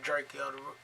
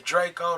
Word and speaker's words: Drakeo: tip right this is dracula the ruler rp dracula my bad i'm saying his name wrong this is drako the roller r.i.p drake called the ruler and